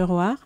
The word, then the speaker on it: ROAR: On prononce Roar à la française.